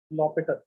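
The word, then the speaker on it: L'Hôpital: एल हॉस्पिटल भी लिखते हैं कभी कभार, लॉपिटल भी लिखते हैं, प्रोनाउंस ऐसे ही करते हैं। प्रोनाउंस कैसे करते हैं? लॉपिटल, ठीक है?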